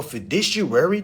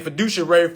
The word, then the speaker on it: fiduciary: privacy to family now they're they have a fiary duty for any of y'all that doesn't know